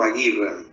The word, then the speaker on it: agieren: lo puede mencionar como agieren, ¿sí? Pero por ahí en algún alemán medianamente pronunciado, que no es mi caso, pero algo intento aproximar, en realidad se pronunciaría algo así como agieren, ¿sí?